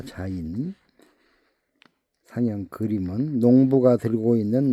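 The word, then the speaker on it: זין: 발음은 자인이라고 있습니다. 자인 상형 그림은 농부가 들고 있는 낮이나 농기구를 의미한다. 그리고 땅을 가르는 파는 쟁기질하는 그런 도구를 말씀합니다. 자인 농부가 씨를 심으려면 먼저 땅을 갈라야 파야 쟁기질하여야 합니다.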